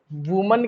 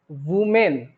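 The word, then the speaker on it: women: तो यहाँ वुमन के जगह पर क्या होगा, वुमेन। वुमेन, इसके प्लूरल में दो उच्चारण हो सकते हैं, वुमेन या वीमेन, दोनों उच्चारण कर सकते हैं।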